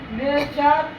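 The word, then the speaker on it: nature: जैसे फ्यूचर, फ्यूचर, नेचर, कल्चर, सब में यू के बाद RE आ रहा है तो इसको अर पढ़ रहे हैं ना।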